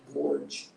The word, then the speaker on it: gorge: Gorge.